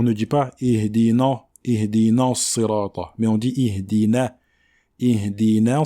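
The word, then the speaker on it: صراط: Mais il faut faire l'effort de bien prononcer cette kasra, même sur la lettre emphatique.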